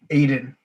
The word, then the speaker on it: Aiden: into this next task aiden your name rhymes with braden maracas they're what he's